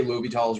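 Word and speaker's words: L'Hôpital: I say L'Hopital's rule. I think everyone says L'Hopital's rule, but I guess some people spell it differently, maybe.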